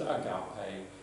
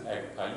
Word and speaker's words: agape: Some pronounce it agape, some pronounce it agape. You choose how you want to pronounce it.